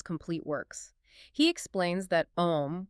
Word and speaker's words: Om: He explains that Om, which is phonetically spelled A-U-M, isn't just a random cultural sound.